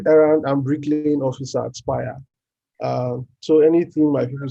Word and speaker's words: Spire: Chief Errand Officer at Spire. He called it Spirit, but it's Spire, please. Anytime if you hear it's Spire, that's the correct pronunciation.